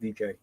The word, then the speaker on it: Dike: I think it's pronounced DK. DK, yeah.